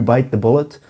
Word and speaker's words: bite the bullet: bite the bullet and the correct pronunciation of this is to stress or emphasize bite bite the bullet not